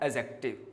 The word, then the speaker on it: adjective: लोग सीखते हैं तो इसमें डी को साइलेंट माना जाता है, जिस वजह से इसका प्रोनाउंसिएशन एडजेक्टिव ना होके एडजेक्टिव है। क्या है? एडजेक्टिव। क्लियर? तो डी को लिखने में यूज करते हैं, बोलने के क्रम में यूज नहीं किया जाएगा।